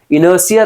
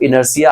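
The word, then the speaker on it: inertia: ये आयरनॉकली पिछला वर्ड था ना, उसी का यहाँ पे ये क्या हुआ है, प्रोनाउंसिएशन आ गया। इनर्सिया ध्यान रखना है मेरे भाई साहब, इनर्सिया आप प्रोनाउंसिएशन समझ गए।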